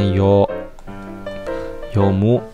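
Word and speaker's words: 読む: yumiitu cara bahasa Jepangnya yomu 123456 satu stagea jadi ada hiragana yang disini yomu Ini bacanya yo yo mu aku soalnya itu adalah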